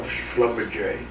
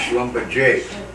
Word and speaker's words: Schlumberger: Look, I got now more than 800 shares of Schlumberger. Very funny company. And you know what? When I came and said, when it came out, it's pronounced Schlumberger, but it's Schlumberger.